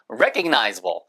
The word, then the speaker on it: recognizable: 거기다가 ABL이 붙으면은요, recognizable. 똑같이 re 액센트 있습니다.